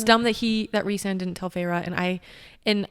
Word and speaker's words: Rhysand: Because I feel like that's what Rhysand. Not Rhysand. That's what I thought in the beginning.